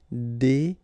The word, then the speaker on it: déguiser: Se déguiser en. Okay? Remember when you got this G, U, and I, it will give you this G sound. G. Okay? Déguiser.